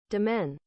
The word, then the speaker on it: demesne: Domain. Domain? How? Where is the S? I know it's silent, it seems like it, but look at the...